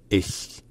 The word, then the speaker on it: ich: Et enfin, finalement, le ch à la fin n'est pas comme le ch français, n'est pas un ch.